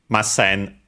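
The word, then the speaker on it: ます: But you can simply remember mas positive, masen negative. Also the accent is on the se, unlike mas on the ma.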